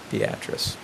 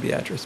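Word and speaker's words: Beatrice: Fitch Kenny For Whom the town was named pronounced her own name beatric and that sort of escaped people so we've tried to come up with a whole lot of reasons why we pronounce it beatric but in fact beatric did pronounce her own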